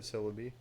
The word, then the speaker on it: Celebi: movie was about Celebi they spell it uh c-e-l you're gonna have to just go from there like celery but Celebi yeah is it legendary